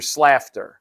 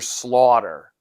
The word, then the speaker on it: Slaughter: hurt Mr Slaughter and it's not pronounced Mr slafter I thought it was Mr slafter but it's Mr Slaughter Slaughter is different than slafter anyway once that continuity